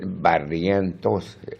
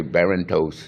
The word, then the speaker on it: Barrientos: a bumper strip and in order for people to understand how to pronounce his name they had to break it down it and and in syllables and so it said Barrientos but at the people would say Baron toes you know Baron no